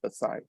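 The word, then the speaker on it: Baçaim: So, welcome to Vasai Fort, or how the Portuguese would call it, Fortaleza de Basem, or Basai. Sometimes the M is silent, so it is just Basai.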